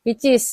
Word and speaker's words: pcs: ya Nah ini yang pcs itu apa disebut dibacanya picis ya Heeh nah ini minyak